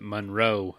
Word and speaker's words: Munro: So I pronounce it Munro.